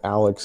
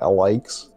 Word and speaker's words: Alyx: about the fact that you're pronouncing that Alex and not alikes which it you know clearly from how it's spelled go ahead and they